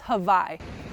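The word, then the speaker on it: Hawi: see a spot called hawaii h-a-w-i but they pronounce it as hawaii so far the trail's been pretty rocky and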